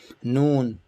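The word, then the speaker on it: ن: Noon, like N in English, like Nancy, noon.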